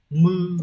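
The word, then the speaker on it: 無: chữ vô ấy nó sẽ có hai cách đọc là Mư Và bư đấy âm oomi sẽ như vậy nhá Còn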